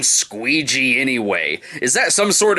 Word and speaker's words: Squeegee: Ron Jeremy is Squeegee, the name that rhymes with Luigi.